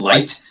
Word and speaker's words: LYT: the communication with um lyt which is um they actually pronounce it light is encrypted traffic so